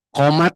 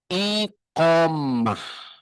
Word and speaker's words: iqomah: Qat enggak? Orang Arab enggak kenal qat. What is the meaning ofat? Yang betul iqomah. Ada tulisannya gede di layar. Saatnya iqomah dibacanya apa? Qat. Nah, itu kita mah sudah biasa dengan istilah yang salah. Padahal asalasnya iqomah dibacana jadi komat.